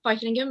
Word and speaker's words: Vaithilingam: just quickly checked through my surname, but you pronounced it beautifully, so thank you. Excellent. Okay, so my name is Vaithilingam, and I'm here with my colleague Tasha.